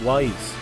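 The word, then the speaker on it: Weiss: Ah, so that's why you're uh pronouncing it wise rather than just reading each letter.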